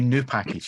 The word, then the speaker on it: nupkg: The first one is whatever way Gary doesn't pronounce it. Uh, that that's that that would be it. Um, but it would be new package is the actual way. It's supposed It's not an upkate, Gary.